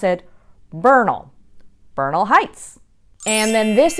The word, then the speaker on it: Bernal: part of Mexico but we don't pronounce it the Spanish way we actually pronounce it Bernal Bernal Heights and then